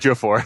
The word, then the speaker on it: Ejiofor: Ejiofor.